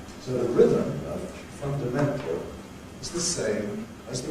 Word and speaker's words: fundamental: So we say independence, fundamental, association. Lots and lots of words have 2 stresses.